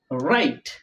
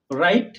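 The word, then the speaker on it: write: বেজিক্যালি এটা কি লেখা রাইট রাইট রং রিং রপ রাইট রং রিপ কোথাও কিন্তু ডাব আছে কিন্তু উচ্চারণ হচ্ছে না ডাব উচ্চারণ হচ্ছে না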